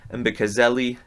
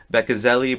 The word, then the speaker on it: Mbekezeli: I'm just going to leave the M off of it because his name is spelled with an MB at the front. And while I'm used to it with the Greek, it's more of a V, more of our soft B.